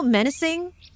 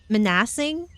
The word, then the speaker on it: menacing: I always thought it was pron pronounced manassing and nobody told me anything until someone like pointed it out one day and like so why do you pronounce menacing? Manassing. I'm like is that not how you pronounce it? I'm like no. I'm like what? It's menacing. I'm like it's not manassing.